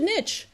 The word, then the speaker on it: niche: the advice you should nitch you should get a niche for your business and you may have heard of pronounced niche i like to say niche because i'm american and it rhymes with rich two reasons so uh